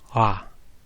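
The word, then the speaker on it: は: Well, it's written ha, as the note at the bottom of the peak page says, kind of like a silent W in the word sword or something like that. Happens in all languages. In this case, when it marks the subject of a sentence, ha is pronounced wa.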